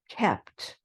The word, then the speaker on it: kept: are all verbs where that long e sound changes to a short e sound and then you add a t at the end so sleep slept keep kept mean and feel felt